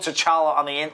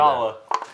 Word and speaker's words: T'Challa: Stand he T'Challa, visited man. His it's father just Chala, and other spirits. Right. It's the T is silent. So why haven't T'Challa.